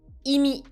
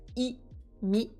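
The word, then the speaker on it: 意味: ici c'est la rubrique Imi donc ça c'est de candi il se prononce i mi Imi ça veut dire la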